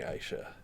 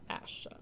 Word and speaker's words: Asha: banner crap now we're not anymore i'm taking aisha asha asha listen i didn't dig on the fact that you pronounced margaery wrong yeah you got to call